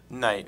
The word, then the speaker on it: Knight: knight uh in studio or is it tonight night is fine thank you silent what's it like to have two silent letters in your last name oh wow um it